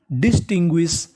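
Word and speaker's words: distinguish: डी आई S dish T आई एन टिन। जी यू आई एस। इसे पढ़ेंगे गु्विस। क्या पढ़ेंगे? तो पूरी मीनिंग बन गई डिस्टिंग्विश।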